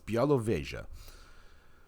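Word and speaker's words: Białowieża: so i'm gonna bring up my little polish pronunciation guide okay and that is okay so now i'll remember that it's bialow vega visiting all right so uh and i managed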